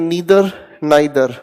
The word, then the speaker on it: नीदर: आप इसको प्रोनाउंस कर सकते हैं नीदर नाइदर, दोनों प्रोनाउंसिएशन ठीक है।